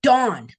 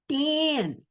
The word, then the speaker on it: Dan: Okay, got to remember, it's dawn, dawn, dawn, dawn, dawn, dawn, dawn, dawn, not Dan.